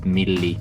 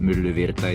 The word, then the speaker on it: Myllyvirta: It's just the U sound that is a bit hard for English speakers, so you can go with milli. Okay. Virta if that's easier, but myllyvirta is the correct pronunciation.